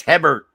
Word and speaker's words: Hebert: It's Hebert.